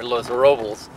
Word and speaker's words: Los Robles: I'm told that's pronounced here Los Robles.